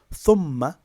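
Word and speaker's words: ثُمَّ: So for example, if we think about thumma, thumma is made up of two syllables. The first syllable is thum, which is long, and it's followed by ma, which is short. In combination, thumma, two syllables.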